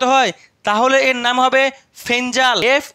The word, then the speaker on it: Fengal: তাহলে এর নাম হবে ফেঞ্জাল এফ ই এন জি এল যদিও অনেকে ফেঙ্গাল বলছে বা ফগল বলছে এর একচুয়ালি উচ্চারণ হচ্ছে ফেঞ্জাল আর এই নামটি দিয়েছে